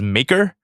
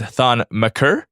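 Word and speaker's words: Thon Maker: pronunciation but I refuse you pronounced on mature as maker again it is thawne maccer I hope that you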